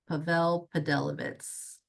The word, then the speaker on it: Pavel Pedelowicz: So the W's are like V's. So Pavll Padelivitz. Pavl Podelivitz.